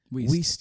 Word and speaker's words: Wiest: That's how you say her name, right? Was it Weist or whatever the fuck? Mm-hmm. Wiest, yeah. Wiest.